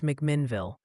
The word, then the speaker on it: McMinnville: Also, quick PSA from the pronunciation police in chat. They insist it's McMinnville, not whatever creative spin you put on it.